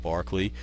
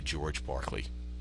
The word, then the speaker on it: Berkeley: of California at Berkeley even though they don't pronounce it the way he did but it is really named the city uh is and ultimately the university named after George Barkley now just a line